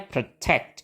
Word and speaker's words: protect: pakai n tadi dan suku kata yang pertama enggak distres jadi kita pakai betul pakai shwa jadi bacanya pre jadi bacanya protect gitu protect Oke melindungi protect